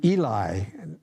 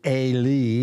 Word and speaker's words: Eli: in a way to eli now that's how we pronounce it by my pronunciation guide i would think it'd be a lee but what do i know so eli hears